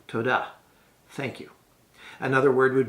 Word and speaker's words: toda: you which is simply toda now emphasize the second syllable in fact there's a good rule of thumb for all these rewards in Hebrew you normally would accent the second syllable so tada thank you another word